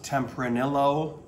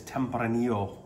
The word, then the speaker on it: Tempranillo: red grape of spain and that is called tempranillo not tempranillo it is tempranillo okay just as a little pronunciation issue um so let's get started right